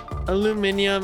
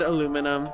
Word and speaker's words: aluminium: it that way alumin aluminium and aluminum the two ways I I know how to say it I prefer aluminums